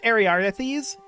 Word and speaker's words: Ariarthes: We're going to go with Ariarthes. I keep wanting to drop this A, but that's not how it's spelled.